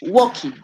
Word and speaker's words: walking: working yeah okay remember remember that the word walking and you cannot pronounce it with the L key but walking whoa no L looking right hi yes